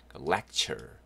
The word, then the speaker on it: lecture: 그 다음에 TURE도 덩어리 발음으로 좀. 예, chur, 추래 그러지 마시고요. chur, lecture, lecture 이렇게 하시면 좋겠습니다.